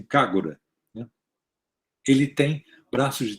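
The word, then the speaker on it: KAGRA: cargo da é que se escreve desse jeito mas japoneses pronunciam cara né ele tem braços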